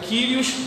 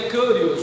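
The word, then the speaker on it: κύριος: acordo com o grego, eu não sei se a pronúncia seria Kyrios ou Curios, porque a letra que está vinculada a esse som é o Y, então não é nem I nem U, né? Então seria Kyrios, uma coisa mais ou menos assim.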